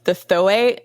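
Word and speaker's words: Zo'é: There's one called the Thoe. It's spelled like Z''OE, and they're in the rainforest in Brazil.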